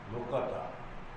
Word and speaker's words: لقطہ: لقطہ کا مسئلہ پوچھا، اردو میں ہم کاف کے جزم کے ساتھ لقطہ بولتے ہیں، عربی میں کاف کا زبر ہے لقطہ۔ بس آپ اردو بول